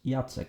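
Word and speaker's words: Jacek: Just like Jack becomes Jacques in French, he becomes Yatsk in Polish. In Italian, two same letters next to each other are pronounced as one prolonged sound as in non.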